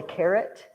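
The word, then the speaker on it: caret: there do you know it's called a carrot but it's not spelled like a vegetable it's spelled like this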